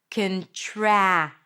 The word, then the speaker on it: contract: You end with a C- sound and a T. Contract. Make sure that you don't add any vowels between the C and the T. Contract if it's hard for you to connect consonants at the end. And don't drop that T either. Contract.